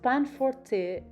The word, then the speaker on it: panforte: this delicious recipe chocolate pan fort pronounced pan forte a rich chewy dark